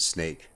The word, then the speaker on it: Snaic: of each of those you could pronounce it snake which i am obviously